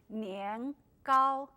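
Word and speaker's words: 年糕: Chinese New Year because in Chinese the pronunciation is near cow near means year call means tall high so when you eat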